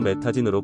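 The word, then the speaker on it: Medellín: 콜롬비아에 가면 꼭 가볼 곳은 메데인 콜롬비아로 메타진으로 발음합니다.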